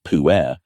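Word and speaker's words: pu-erh: The puerh tea, it's pronounced puerh, represents fermented tea science at its most sophisticated.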